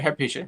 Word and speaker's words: Hypatia: You can pronounce names better than I can. No, you got it right, Hypatia.